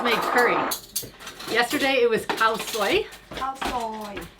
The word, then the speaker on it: khao soi: curry yesterday it was khao soi hao soy soy soy like a soy sauce soy i say it wrong all the time but